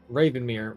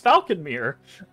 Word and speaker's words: Falconmere: Ravenmere. What the hell is it called? Falcon. You said it right this time. It's Falconmere.